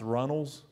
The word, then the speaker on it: Reynolds: still do but like the name reynolds was pronounced runnels and if you didn't